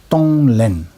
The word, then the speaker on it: Tonglen: Tonglen, there are two syllables. Tong, to give. Len, to take. Tonglen.